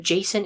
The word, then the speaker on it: Jason: In ancient Greek, his name is more properly Iason, but Jason is the more commonly used pronunciation today.